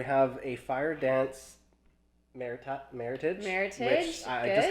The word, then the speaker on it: Meritage: a mix of the bordeaux grapes and and pronounced Meritage and it's really funny when you say Meritage